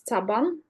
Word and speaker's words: Saban: you Mr Saga um the pronunciation of my name is Saban so my name is